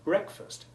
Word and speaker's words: breakfast: You break your fast of the previous night by eating your breakfast with a short E1 sound.